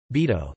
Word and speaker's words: Bidault: Georges Augustin Bidault, French pronunciation, Bidault, the 5th of October 1899 to the 27th of January 1983, was a French politician.